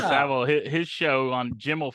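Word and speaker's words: Savile: on inFamous child predator Jenny savle that's how you pronounce Sav yeah yeah saav his show on Jim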